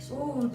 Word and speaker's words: Oud: Oud.